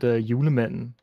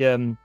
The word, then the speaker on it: Julemanden: It's like Julemanden. Oh, Yule. Yeah, Yule. Yuletide. Yeah, basically like the like you could say it's like the Yule man.